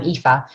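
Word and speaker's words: Aoife: so it's if i i'm ifa um oh that's much better thank you these irish names they're they're tricky for for non-irish people to pronounce and so firstly i'd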